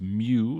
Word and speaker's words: mu: And the mu right here, that's pronounced mu, like Mewtwo, name of the channel.